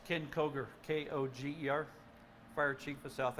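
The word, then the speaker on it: Koger: Can you say your name and spell it as well? Yes, it's Ken Kroger, K-O-G-E-R, Fire Chief of South Adams County Fire.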